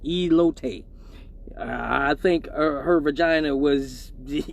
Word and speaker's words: elote: It's pronounced elote.